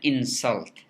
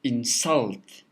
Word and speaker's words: insult: i said it's an insult insult but if i say don't insult your friend in that case in the second example the the second syllable of insult is stressed and the the word